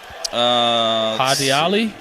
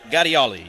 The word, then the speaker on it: Gadiali: Hadiali? Taye Gadiali, yep. Hadiali. I didn't know if you pronounced the G or not. I think that one you do.